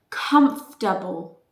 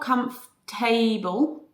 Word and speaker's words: comfortable: pronoun of that suffix for example number one comfortable comfortable it's not comfortable okay comfortable comfortable number two unforgettable